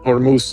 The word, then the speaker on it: Hormuz: in the Strait of Hormuz, did I say it right? Ormus. Ormus, I'll say it again. In early 2026 when tensions hit the breaking point in the Strait of Hormuz, the internet manufactured a thousand versions of reality.